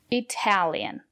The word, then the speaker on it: Italian: to Italy good job Italian the syllable after the letter T is stressed we pronounce the letter t as T Italian I don't speak